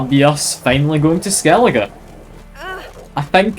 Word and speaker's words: Skellige: That'll be us finally going to Skellige. I think it's Skellige, not Skellige.